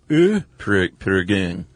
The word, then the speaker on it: Prägung: Yeah, like an A with an umlaut, sort of a ear. Prägung.